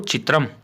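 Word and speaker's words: चित्रम्: नपुंसकलिंग का शब्द है तो चित्रम, संस्कृत में इस प्रकार से इसका उच्चारण रहेगा।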